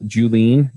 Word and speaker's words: Julien: say hi awesome you may want to spell julene because I know I would never guess how to spell it with oh yeah it's that's this weird